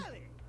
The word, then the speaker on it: Telly: Telly rhymes with Nelly. Like, whoa, Nelly, did you know Telly offers 5,000 channels like an endless deli?